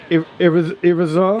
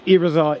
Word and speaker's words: Irizar: How are we pronouncing it? The Irizar?